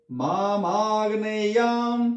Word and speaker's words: मामाग्नेयाम: बोलना, ग्नि, शिवोग्नि रूपी मामाग्नेयाम पातु सर्वदा, मामाग्नेयाम, ग को जल्दी बोल के ने पे चले जाएंगे, मामाग्नेयाम पातु सर्वदा, माम मुझे, अग्नेयम अग्नेय दिशा में, कौन सी होगी अग्नेय दिशा?